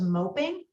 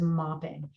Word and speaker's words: moping: words into syllables because that word was moping and many many people will read that word as mopping and so rules of syllable division help students understand why one of these words is mopping and why the other one of these words is moping the same is true